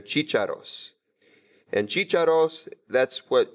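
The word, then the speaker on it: chícharos: chicharros most cheat shadows know the accent there Cheech arrows and cheated off that's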